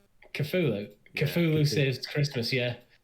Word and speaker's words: Cthulhu: Is that how we pronounce it? The dark one. I thought we agreed on this. Cthulhu. Cthulhu.